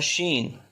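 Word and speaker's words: شين: upper teeth and the sheen so Sheen comes out from the middle of the tongue and the middle of the palette Sheen next one the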